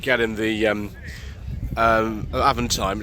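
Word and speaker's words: Avantime: Viewers, we like Avent times very much. I'd like to say Avantine because that was hard French person to pronounce it, but no, it's Avent time. That's just the way that it is.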